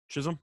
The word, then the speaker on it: Chisholm: has been okay is that i forgot to pronounce that it's just chisholm yeah so jazz jazz has been pretty good